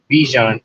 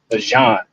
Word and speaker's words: Bijan: No, but I got so his name is not Bijan, it's Bijan Robinson. We all been saying it wrong.